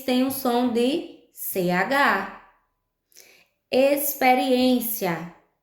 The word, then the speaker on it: experiência: Experiência, a gente escreve com X, mas esse X tem um som de S.